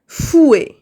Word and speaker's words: fouet: المخفقة fouet un fouet un fouet. هذيك التي ما كتنطقش في لافان c'est pas un fouet non un fouet un fouet.